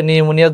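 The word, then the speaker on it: pneumonia: process আছে এটা হচ্ছে নিউমোনিয়ার জীবাণু নিউমোনিয়ার বানান কিন্তু পরীক্ষায় চলে আসে অন্য বিষয়ে চলে আসে নিউমোনিয়া বানান কোনটা পি দিয়ে কিন্তু নিউমোনিয়া বানান হয় পির উচ্চারণ হয় না আর কি আর স্টেপটোককা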